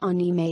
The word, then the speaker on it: anime: what is anime the word anime pronounced anima is an abbreviation of